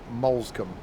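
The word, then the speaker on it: Moulsecoomb: Interesting how the announcement's pronounced Molescombe.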